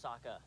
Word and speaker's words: Sokka: My name's Sokka. Rhymes with An Akka.